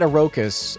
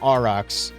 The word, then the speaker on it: Aurochs: I don't know why my brain said Orokas. I guess, like, it overpronounces the H. I don't know, Aurochs.